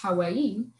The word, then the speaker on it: Hawaii: like someone from Hawaii, which I have learned that it's supposed to be pronounced Hawaii.